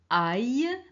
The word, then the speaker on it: ail: Alors, on a A-I-L, on prononce aïe.